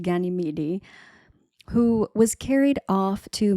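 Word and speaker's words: Ganymede: Um, I think it's pronounced Ganyidi who was carried off to Mount Olympus by Zeus and he was to become the cupbearer to the gods.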